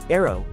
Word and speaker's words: ARRW: The AGM183A air launched rapid response weapon commonly called ARRW pronounced arrow is a hypersonic glide vehicle developed by Loheed Martin for the US Air Force.